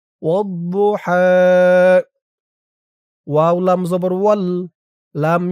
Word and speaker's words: والضحى: বদের উচ্চারণটা খেয়াল করুন। বু, বু, মুখটা গোল ভরপুর হয়ে যাবে। বু, একেবারে দু বলা যাবে না। দু বললে দালের উচ্চারণ হয়ে যাবে। ওয়াদ্দুহা।